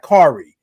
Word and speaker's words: Kari: Yeah, like Carrie, like Kari.